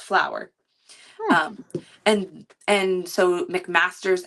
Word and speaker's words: Flower: And his name is spelt like F laugh but it's pronounced flower.